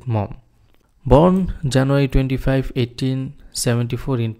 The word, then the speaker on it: Maugham: এই জায়গায় উচ্চারণ অনেকেই ভুল করে, এটাকে বলে অনেকে মুঘাম, আসলে এটা ভুল উচ্চারণ হবে উইলিয়াম সমারসেট মম।